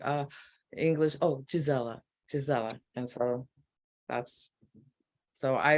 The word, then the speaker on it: Gisela: so it's it's actually the root of my name is actually in German it's Gisela um so that it has traveled so it's Giza LA or Giselle in French or Isela in Spanish or even in